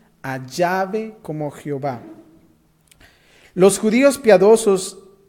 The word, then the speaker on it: Yahvé: En los días de la Biblia, el nombre era pronunciado como ¿qué? Yahvé.